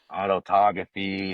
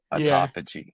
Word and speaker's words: autophagy: And and by the way, this word autophagy I just learned how to pronounce. I was talking autography and all these other things for so long. But it's autophagy.